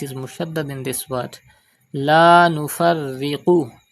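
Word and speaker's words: لا نفرق: La Nufarriqu. Pronounce Qaf with thicker voice.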